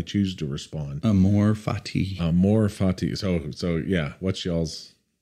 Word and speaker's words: amor fati: to respond Amore Fati Amor Fati so so yeah what's y'all's what's your pronunciation a m o r f a TI it's it's not Amor fatti Amor fatti am fatty